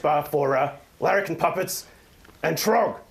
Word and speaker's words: Troggg: Just look in the search bar for Larrakin Puppets and Troggg with 3 Gs. And the middle G is silent.